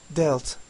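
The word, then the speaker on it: dealt: anlaşmak paylaştırmak dağıtmak demiştik Bu kelimenin ikinci halinde neye dikkat edecektik okunuşuna delt şeklinde söylüyorduk bir tane t harfi ekledik zaten dikkat edin sonuna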